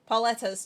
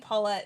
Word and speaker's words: Petta: Petta's time. I keep saying Pette. It's Petta. I keep not saying the extra syllable to her name.